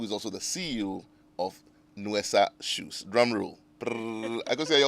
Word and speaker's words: Nuesa: So my guest for this afternoon's show is Akosia Sechi Ejekum, who is also the CEO of Nuesa Shoes.